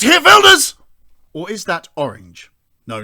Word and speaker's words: Geert Wilders: It's Geert Wilders! Or is that orange? No, not him. It's this guy, whose name no English speaker seems to be able to pronounce. Geert Wilders.